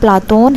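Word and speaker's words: Πλάτων: वास्तविक नाम अरिष्टोक्लेव था प्लेटो शब्द का यूनानी उच्चारण प्लाटून है और प्लेजोन शब्द का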